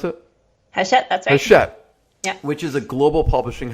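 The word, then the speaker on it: Hachette: a publicist for his shet how do you pronounce it that's shut which is a global publishing house and she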